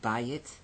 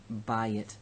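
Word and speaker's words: בַּיִת: This aye can only exist as long as it is in an accented syllable. Bayit. When the accent shifts off of the syllable, then it becomes bait. So bayit becomes bait in construct.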